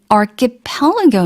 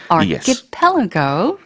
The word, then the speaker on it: archipelago: And between the two Asian archipelago nations, 발음이 조금 어려울 수도 있어요. Archipelago.